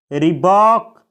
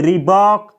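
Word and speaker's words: rebuke: में कर रहा हूं रिबॉक इसे रीबुक नहीं पढ़ा जाता है इसको बोला जाता है रीक रिबॉक यानी शक्ति से बर्ताव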